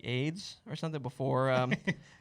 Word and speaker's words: Ayds: It was AYDS. Yeah, but still, you pronounce it AIDS.